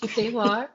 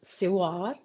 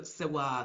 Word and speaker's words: Sewar: Siwa. Siwa is actually pronounced Siwar.